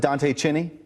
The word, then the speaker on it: Dante Chinni: And we're going to do it with Dante Chinni. Is that how you pronounce it, Dante Chinni?